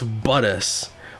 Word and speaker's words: Bottas: Look, I mispronounced, like, one. Oh, wait. Wow, he's mad. Poor Seb. I know it's Buttus, but because Valtteri is often not doing well